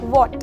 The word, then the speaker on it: what: अगर मैं बोलूँ वॉट, मैंने क्या बोला? वॉट, WHAT। यहाँ पर आप देखेंगे कि W के बाद H आया हुआ है, पर हमने बोलते समय H को प्रोनाउंस नहीं किया। मैंने सीधा बोला WAT, वॉट।